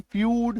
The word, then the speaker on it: feud: चलो नेक्स्ट देखो, अगर किसी शब्द में ईयू आए तो ईयू का भी उच्चारण यू होता है, और ये आपको मैक्सिमम